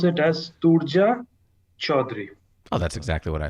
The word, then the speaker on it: Turja Chaudhuri: by our special guest uh turjan and uh i just knew i'd screw that up welcome